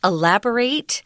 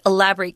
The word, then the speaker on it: elaborate: Elaborate here is a verb, guys, so it's pronounced elaborate. But if it's an adjective, meaning, really decorated or highly complex, lots of details, you say elaborate. But here it is elaborate.